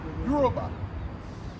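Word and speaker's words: Yoruba: Euroba. Am I pronouncing it right? That's right. Okay. Euraba.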